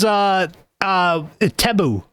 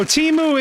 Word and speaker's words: Temu: Yeah, it was Tebu. It was, pardon? Yeah, it was called Tebu. Can you spell it? Yeah, it's Temu.